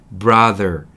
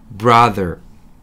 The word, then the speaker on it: brother: 제가 정확히 발음해 볼 테니까 여러분 brother. 브라더를 브라덜이라고 하시면서 the 할 때 내미시면 정확한 발음 하실 수 있을 것 같아요. 저랑 같이 한번 따라해 볼게요. brother.